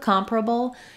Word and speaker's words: comparable: reduced I would say with comparable it's probably going to be helpful to practice it slowly one syllable at a time and then speed it back up that would sound like comparable comparable comparable notice that this uh sound is very quick and sometimes it almost might sound like it's not there like comparable comparable it's very reduced we do typically have